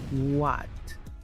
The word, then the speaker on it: what: Muchos pronuncian esta palabra what, Pero aquí la W se pronuncia U, la H es muda. What.